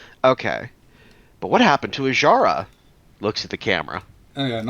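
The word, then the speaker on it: Azshara: what happened to a I'm going to mispronounce this name again aara uh aara okay I got to remember that that s is silent okay but what happened to ajara looks at the camera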